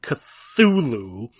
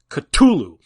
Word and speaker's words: Cthulhu: to be it's not cthulhu it did stop saying cthulhu it's katulu you're supposed to be like like it's coming from the back of your throat like you're spitting the name out stop saying cthulhu you